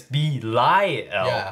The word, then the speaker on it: Belial: people are like no people are um correcting us saying it's b lie l right yeah l i